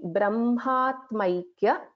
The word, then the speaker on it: Brahmatmaikya: So it's basically Brahmatmaikya, if I split, Brahmatmaikya Swarupini, Brahma, Atma, Aikya, Swarupini, it's one word, Brahmatmaikya Swarupini.